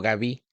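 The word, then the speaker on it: Gabí: pronunciaba mi nombre correctamente se pronuncia Gabi a gu b grande y latina acento en la i como sea Gabi o Gabi qué delicadita eres mira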